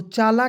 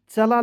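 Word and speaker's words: chala: चला क्यों नहीं लिखे चला लिखें ठीक है जी तो यहां पे जरा ध्यान से सुनेंगे दोस्त मान लीजिए मैं लिख रहा हूं सी एच ए एल ए तो इसे पढ़ेंगे चला चला क्यों नहीं पढ़ेंगे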